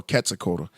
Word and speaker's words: Quetzalcoatl: some interesting stuff about um uh katsukoto well quetzalcoatl the original that's how you really suppose quetzalcoatl a lot of people pronounce the q and that's like saying that